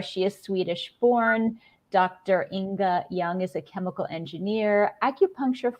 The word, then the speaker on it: Ynge Ljung: So the rest of us are just like, wait, how do you pronounce it? Ynge Ljung.